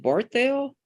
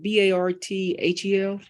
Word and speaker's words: Barthel: the ladies side which myths uh is it Bartell big b-a-r-t-h-e-l um I'm doing well ma'am and your last